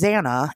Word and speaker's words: Zana: I'm like, is it Zana? Is it Zanna? Uh, it's it's Zana.